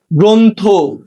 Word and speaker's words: গ্রন্থ: 5 নম্বর নিয়মটা দেখো, শব্দের প্রথমে অযুক্ত র ফলা থাকলে সেক্ষেত্রেও শুরুর অ এর উচ্চারণ সাধারণত ওকার হয়ে থাকে।